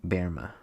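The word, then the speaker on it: Böhme: She was a student of ancient mystical traditions and asked Case to comment on prophecies of 17th century German seer named Jacob Bohemie, pronounced Berma.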